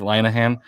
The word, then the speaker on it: Linehan: first name meg um she was the one that kind of broke that three syllables i believe linahan she's the one who